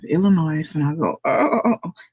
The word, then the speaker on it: Illinois: If we're around a lot of people, I might say, hey, if the S is silent, don't you?